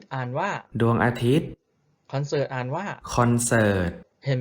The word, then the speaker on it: อาทิตย์: saman ว่า serm ดวง อาทิตย์ อ่าน ว่า ดวง อาทิตย์ คอนเสิร์ต อ่าน ว่า คอนเสิร์ต เห็น ไม่ รู่ พอ มี ตัว การันต์ ตัว นั้น ก็ จะ ไม่ ออก เสียง เพราะ ฉะนั้น ถ้า เห็น